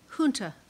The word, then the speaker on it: junta: Junta. Is there an alternate pronunciation?